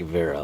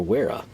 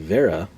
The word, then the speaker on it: Wera: bragging about them, they all seem to like Wera, or Wera, if you want to pronounce it as we would without knowing any better.